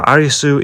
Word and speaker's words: Arisu: Now Arisu is just the Japanese pronunciation of Alice, so I'm not too sure if I should call him Arisu or Alice.